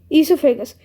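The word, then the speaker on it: oesophagus: ईसोफेगस, इसको वैसे बोलते हैं ईसोफेगस, लेकिन इसकी स्पेलिंग है ओएसोफेगस, ऐसी।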